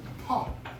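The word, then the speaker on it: φ: When most people see phi, they pronounce it as phi. However, phi is not a word, it is actually a Greek letter. And it was originally pronounced as an aspirated P, heard as puff, with a puff of air at the end. That's what an aspirated P is, puff. It's not P, it's puff.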